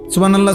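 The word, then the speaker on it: سبحان الله: সুবহানাল্লাহ। সুবহানাল্লাহ কলে হাতো উচ্চারণ হয় না।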